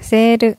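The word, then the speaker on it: セール: 세루. 이건 쓴 세이루에서. 네, 그렇죠. 이 발음 된. 탈락하고 세가 긴 장음으로 변한 거죠.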